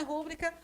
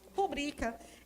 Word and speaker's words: rubrica: Se fosse uma proparoxítona, seria rúbrica. Mas a pronúncia não é rúbrica, a pronúncia é rubrica.